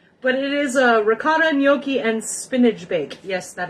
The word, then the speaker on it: gnocchi: will do that but it is a ricotta noi and spinach bake yes that is how you